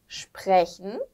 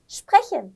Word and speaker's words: sprechen: 이게 슈프였고요. 그 다음에 에르 사운드가 나오니까 어렵지 않을까 싶어요. 레 한번 해준 다음에 쉬고 또 쉔 발음이 나와요. 이 세하 앞에 아오가 없었을 때는 히 발음이 난다고 했기 때문에 물론 이거는 한계가 있습니다만 써보자면 이 정도가 아닐까. 쉔 이런 소리일 것 같아요. 슈프, 레, 쉔 요거를 빨리 하면 sprechen.